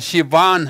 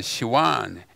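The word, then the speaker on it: Sivan: 현대 발음으로는 시완 합니다만 고대 히브리어문은 시완, S-I-V-V-A-N, 시완이라고 하는데 옛날에는 시완으로 했어요.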